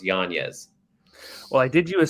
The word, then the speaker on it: Yañez: from you know yanez i probably get like yanez a lot it's actually yanya's but yanez is a popular one um i even think